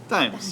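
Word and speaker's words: Daims: is it Times or Dames? Dimes. Dimes. D-A-I-M-S.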